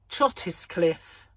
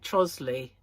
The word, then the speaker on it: Trottiscliffe: There's like Trottiscliffe. We don't say that. We call it Trosley.